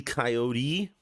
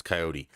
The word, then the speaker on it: coyote: but the cartoon wiley coyote that's why everyone thinks it's coyote it's actually not and the reason it's wiley coyote is probably because it rhymes and there's a little